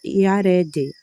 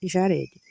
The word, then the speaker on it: Iarede: Mudaram o sinal massorético aqui. Aí aqui ficou com som de I em vez de, entendeu? Aí ficoued causa do sinal massorético, por isso que eu pronunciei assim.